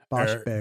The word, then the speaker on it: Waschbär: What's an A with an umlaut? Bear? Waschbär? Waschbar. Burr. You're just making up vowels now. No, it is. It's an AE sound. Waschbär.